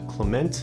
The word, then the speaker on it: Clement: a freebie for you why do I pronounce it Clemente and not Clement that's because the San Francisco accent is real and it's mostly just us pronouncing things wrong and also you guys